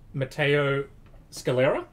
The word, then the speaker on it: Matteo Scalera: books cool alrighty this week mark miller and matteo scalera yes that's how you say it but i